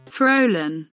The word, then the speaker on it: Faolan: I have already once displayed before how my fursona's name was meant to be pronounced, and it came out like this. Faolan.